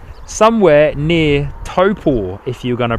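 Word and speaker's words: Taupō: Somewhere near Taupo, if you're going to pronounce it correctly, eh Telly? Somewhere near Taupo. Or as English people would say it, Taupo.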